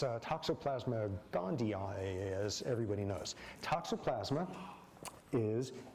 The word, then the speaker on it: gondii: And toxo not Gandhi in the Gandhian sense, but probably because it's even pronounced differently. Okay, how are you pronouncing it these days? Gondii. Gondii cuz there's two i's at the end, which the old Mahatma